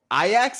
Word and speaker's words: Ajax: mind sunday at noon ayax and vitesse ix that is how people who know soccer pronounced ajax but iax is a